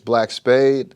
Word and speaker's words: Blvck Spvde: My name is Black Spade. I spell it Vde.